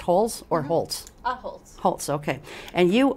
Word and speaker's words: Holtz: Is it pronounced Holtz or Holtz?